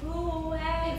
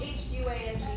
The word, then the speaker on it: Huang: Huang. It's spelled H-U-A-N-G, but it's pronounced Huang.